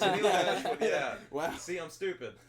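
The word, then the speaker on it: Tenille Dashwood: Oh, it's Tennille Dashwood. Yeah, it's Tennille Dashwood.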